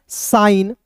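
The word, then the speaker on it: sign: यदि किसी शब्द में यदि किसी शब्द में एन से ठीक पहले एन से ठीक पहले जी आता है। एन से पहले यदि जी आता है तो यानी कि जी एन याद रखना है तो जी का उच्चारण नहीं होता है। जी का उच्चारण नहीं होगा।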